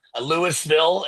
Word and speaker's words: Louisville: I have not been to Louisville, Lewisville, as Chris tells me to pronounce it.